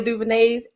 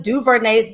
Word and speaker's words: DuVernay: on broadway most recently ava duvenay's ava ava duvernay's got to say her name right when they see us